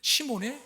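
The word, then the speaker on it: 시므온: 시무온이라고 하는 것은 베드로라고 하는 이름. 시몬의 히브리식 발음이고 요한의 아들 시몬아 네가 나를 사랑하느라 할 때 그 시몬은 또 베드로 아닙니까? 근데 왜 여긴 시무원이라고 했는데 거긴 시몬이라고 했나? 시몬은 헬라식 발음입니다.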